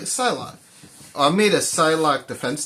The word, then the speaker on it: Psylocke: Yeah, I said it right, Psylocke.